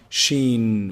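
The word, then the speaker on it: ش: So the sheen is pronounced from the middle of the tongue, the middle section of the tongue, and the roof of the mouth.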